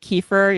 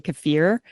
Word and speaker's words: kefir: It's kind of like kefir. You're not supposed to say Kefir. supposed to say kafir, but when I say kafir, then I mess it up and make this weird mix.